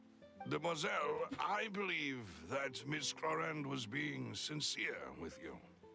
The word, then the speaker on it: Clorinde: Anyway, Paimon definitely accident on the wrong syllable because all French words are, I believe, accident on the last syllable unless they're otherwise. So it is Clorinde.